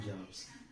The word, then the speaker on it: jobs: Jobs, actually it should be pronounced as jobs, but not jobs. It is pronounced as, this sound is pronounced as z, jobs.